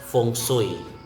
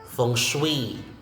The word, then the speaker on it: feng shui: Next, feng shui, feng shui, not feng shui. Feng shui, and the stress is in the second syllable, the second word, feng shui.